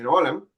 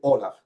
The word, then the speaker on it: Olam: Un gran maestro de eso es el caballero Divian Olam. Sí. Perdón, Divian Olaf. Se escribe con M, pero se pronuncia con F. Divian Olaf.